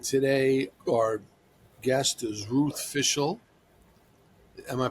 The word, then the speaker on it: Fishel: And today, our guest is Ruth Fishel. Am I pronouncing that right?